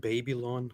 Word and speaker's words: Babylon: have to correct you he actually pronounced baby lawn so just so baby